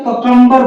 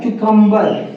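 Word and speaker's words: cucumber: देखिए नेक्स्ट है ककम्बर बोलते हैं इसको ना, ककम्बर तो हम बोलते थे ना, लेकिन इसका सही प्रोनाउंसिएशन क्या है? क्यूकम्बर, क्यूकम्बर, क्यूकम्बर, क्यूकम्बर, खीरा बोलते हैं इसको।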